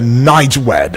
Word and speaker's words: NIGWED: That will be the NIGWED. I don't know if I pronounced that one correctly. Yes, correct. Yes, welcome aboard to the discourse today, right, Honorable?